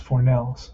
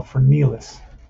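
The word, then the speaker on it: Fornieles: this pronunciation mike i i said it's pronounced for nails but probably way off for nellis oh no for nilas that's it okay let's write that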